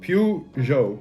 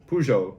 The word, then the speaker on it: Peugeot: needs to be pronounced piu jo peugeot pujo something like that it is french you pronounce it french god damn it i